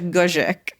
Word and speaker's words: Guzik: It's Polish Guzik, but Guzik.